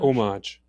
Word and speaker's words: homage: Do you pronounce the H in that? Homage. Homage. Homage. No H.